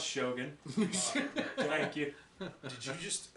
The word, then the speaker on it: Shogun: sorry uh it wasn't as good as uh shotguns but uh it was shot pretty pronounce Shogun thank you did you just assume my speech